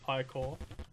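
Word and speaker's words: Ichor: That's pronounced Ikor.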